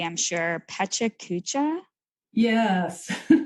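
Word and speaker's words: PechaKucha: not going to say it correctly I'm sure petcha Kucha yes it's pronounced technically they tell me it's pronounced pachakacha and that means chit chat in Japanese okay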